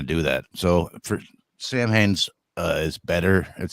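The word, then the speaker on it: Samhain: anything but like I came across the name Sam Hayne from danzig's band in the 80s you know like and I've always heard everyone pronounce it that way and uh apparently the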